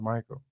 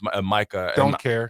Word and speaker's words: Micah: See, I thought it was Michael. No, no, it's Micah. M I C A H. Micah and CD Lamb are